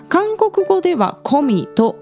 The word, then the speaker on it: 거미: En Japón se escribe GUMMY, así que creo que mucha gente lo conoce como "Gummy", pero en coreano se pronuncia "Komi".